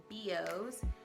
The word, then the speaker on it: BEEOS: I want to say Besos from the way that it's spelled, but there's no S. So it's BEEOS, BEEOS, awesome hair store.